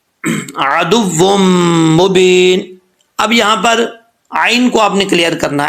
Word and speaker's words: ع: عین کو پڑھتے وقت یہ مت دیکھیے گا کہ یہاں پہ غفلت کے ساتھ پڑھ جائیں. اگر آپ نے عین کو حمزہ پڑھ دیا تو سمجھیں کہ اس کا تلفظ صحیح نہیں ادا ہوا اور اس اپنے مخرج سے عین جو ہے صحیح نہیں نکل رہا.